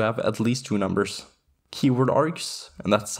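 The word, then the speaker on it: kwargs: keyword args and that's how it's pronounced by the way the kW stands for keyword works very similarly to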